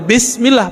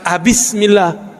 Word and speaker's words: Bismillah: Tetap bacanya Bismillah, bukan Abismillah. Terus apalagi?